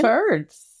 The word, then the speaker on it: Terdz: Turds. It's TERDZ, but like same pronunciation.